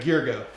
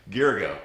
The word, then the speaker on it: Gyergyo: If you could tell us all how to You and a pronounce lot of your other last name. people. Gyergyo. Gyergyo.